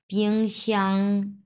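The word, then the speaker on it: 冰箱: দেখেন পিংশিয়াং, 1 number ton পিংশিয়াং, fridge চিতান।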